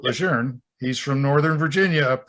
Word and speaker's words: Lejeune: people in the military think it's camp lejeune oh anybody that reads it i mean there's no r but general john a lejeune pronounced it legerne he's from northern virginia